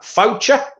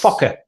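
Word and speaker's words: Faucher: And it is Calvin, how are we pronouncing that? Foucher? Yes. Fokker. No. No, we're not good with Fokker.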